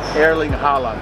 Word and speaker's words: Erling Haaland: How do you properly pronounce his name? Erling Haaland.